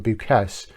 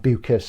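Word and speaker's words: Beukes: If you take for example The Shining Girls by Lauren Buchess u Buchus I should say is the correct way to pronounce her name unless she told me that herself.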